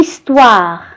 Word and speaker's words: histoire: égale le 5 me la lettre h et une lettre niet au début de mois il ne se prononce pas ici une histoire une histoire achi égale le sertit h